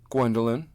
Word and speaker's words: Gwendoline: what's your name asked Pete after a pause gwendelyn she said proudly Wendy land Wendy said Pete trying his best to pronounce her name Wendy that is not my